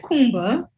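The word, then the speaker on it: Kuumba: The sixth day, which Nia was trying to pronounce, is Kumba with a K, and it just means creativity.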